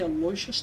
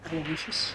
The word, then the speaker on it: Aloysius: They say Aloysius, not Aloysius. They do say Aloysius here.